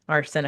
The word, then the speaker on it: arsenicum album: And arsenicum album is can be phonetically it's arsenicum Yes, arsenic arsen arsenic.